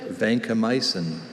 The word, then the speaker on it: vancomycin: Vancomycin. Vancomycin. Are there any alternate pronunciations?